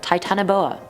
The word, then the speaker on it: titanoboa: 10 is the titanoboa now there were so many pronunciations to this one i was like what do i choose but then charlotte over on io it said it was like that summer trust her titanoboa i'm a truster now